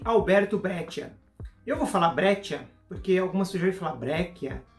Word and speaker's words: Breccia: Becker eu vou falar brecha porque alguma cerveja fabreca eu vou falar brecha porque eu acho que eu mais próximo da pronúncia aqui parece ser de origem italiana e o que que